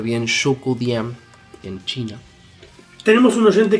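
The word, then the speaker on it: Zhoukoudian: Eso es Shoukudien, creo que la ZH es Show.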